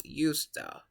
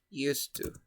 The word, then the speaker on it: used to: Second part, when you have the word at the beginning, or in the middle of a sentence, you pronounce usta, Use. usta. But when the word is at the end, you say used to.